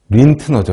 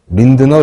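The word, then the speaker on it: Lindner: 구원한 건 한센이 아니고 린트너죠 린트너 린드너 린트너 근데이 사람이 어느 나라 사람인지 잘 모르겠는데 아무튼 도고식으로 읽으면 린트너라고 읽는게 맞는 거 같은데 뭐 편한 대로 읽어도 되겠습니다 이 사람이 발견한 거죠이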